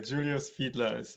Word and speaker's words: Julius Fiedler: And uh, so is it is it was the pronunc you did it the right way. Julius Fedler is right. I think in in Germany you would say Julius, but um, I'm completely used to Julius.